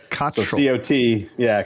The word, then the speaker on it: Cottrell: Cottrell from the Dabbler's Den to talk about Carolina Bays and all that kind of interesting stuff.